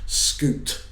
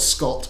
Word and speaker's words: Scoot: you make any jokes scoot McNary it's not Scott it's scoot um he's been cast